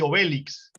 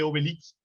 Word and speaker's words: Obélix: le dicen astérix y obélix y en francés pues con todo lo francés siempre la tilde siempre el acento al final es astérix y obélix no sé cómo se